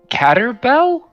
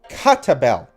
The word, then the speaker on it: Catabel: What is Caterbell? It's Catabel. Say it right, you fool.